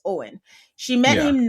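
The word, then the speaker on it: Eoin: Owen. It's Owen, but it's not spelled that way.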